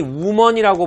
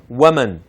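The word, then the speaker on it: woman: 그 다음에 이제 이거는 우리가 흔히 우먼이라고 보통 우먼파워 뭐 우먼센스 이렇게 해서 하는데 그렇지 않죠 발음은 웜은 예 그렇죠 그 다음에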